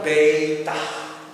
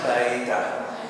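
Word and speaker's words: βήτα: kedua yaitu beta ya pengucapannya beitah beitah ya jadi itu nama itu harus diucapkannya baitah bait ditranslitasikan sebagai huruf B dan itu kita ucapkannya seperti Ketika kita bicara kata biru B biru itu beta Nah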